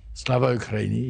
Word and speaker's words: Slava Ukraini: Slava Ukraini, yeah.